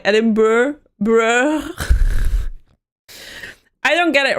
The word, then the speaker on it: Edinburgh: I don't get it right because in Dutch we would read it as Edinburgh. And then I heard it in English. I'm sorry, and I was like, this doesn't make sense. They add like 5 syllables.